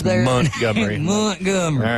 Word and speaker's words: Montgomery: In Dothan off Montgomery Highway, not Montgomery Highway. I learned how to pronounce that correctly as I became a Southerner in the Florida Panhandle. Oh, yeah. I used to say Montgomery, and Beth would be like, that is completely wrong.